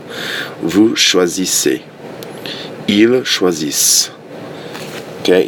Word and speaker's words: choisissent: Ils choisissent. Okay, you do not pronounce ENT at the end of the verbs.